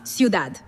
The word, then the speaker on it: ciudad: To make it Spanish, we delete the ty and we substitute it with dad, pronounced exactly like dah. So, city becomes ciudad.